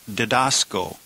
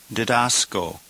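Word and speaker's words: διδάσκω: So 23 the noun is pronounced dedascalos. Dascalos. And number 24 the verb is dedasco. Dasco.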